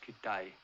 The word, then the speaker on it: Kitaj: this hedge path Kitaj it's pronounced cute die Whitcomb the Warner's Alan